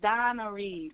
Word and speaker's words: Danry: It's Donnery.